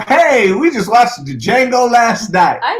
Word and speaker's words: Django: Why is he saying the Django? Because that's part of the movie where the man said, the Django! The D is silent, motherfucker.